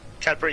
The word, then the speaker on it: Cadbury: Cadbury, did I say that right? Is it Cadbury? Cadbury, yeah, that's right, yeah, Cadbury.